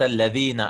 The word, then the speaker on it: Al-Ladhina: If it was a Hamzatul Wasl, we would have just skipped it to Al-Ladhina, like something like that, right?